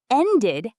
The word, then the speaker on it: ended: Ended has two syllables. End, ed.